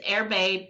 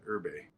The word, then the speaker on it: Erbe: I guess we've learned a different ways to pronounce it but it's airbag not Urban uh-huh very nice so um and it's in